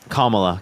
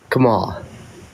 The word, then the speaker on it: Kamala: Kamala that got put for Kamala. Can you say her name correctly? Kamala.